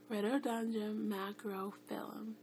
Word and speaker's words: Rhododendron macrophyllum: Rhododendron Macrophyllum.